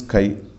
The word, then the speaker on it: chi: Pronunciation is chi.